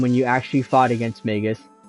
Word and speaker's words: Magus: to call him too I'm pretty sure it's supposed to be pronounced Magus because it's um an already made word and I think that's that's how it's supposed to be pronounced but I call Magus or I used to call Magus because you know like magic but magus yes that was my logic yeah feels like